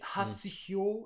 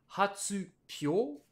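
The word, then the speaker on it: 発表: Quand on les a mis ensemble, ça nous donnerait logiquement hatsuhyo. Mais hatsuhyo, c'est super compliqué à Ouais. prononcer pour un japonais. Du coup, le mot a été transformé avec Hatsubio. l'accent Ah non, Pyo. sur le hi, hein, sur le hyo, qui devient hatsupyo.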